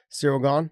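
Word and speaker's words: Ciryl Gane: yeah is that how you say his name cyril gone gone yeah yeah um that fight but the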